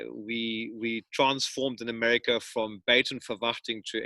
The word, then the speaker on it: Buitenverwachting: We transformed in America from Buitenverwachting to everybody then called us Bite Me for Watching. That was the closest pronunciation that it could get.